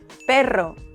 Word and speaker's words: perro: Pero, caro, now roll it. Perro, carro.